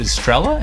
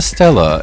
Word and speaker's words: Stella: just into the name oh is it strella am i saying it wrong it says it's a stella and it's stella in